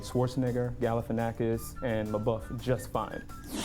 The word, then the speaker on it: Schwarzenegger: Arnold is from Austria, so I would say his name should not be Schwarzenegger, it should be Schwarzenegger.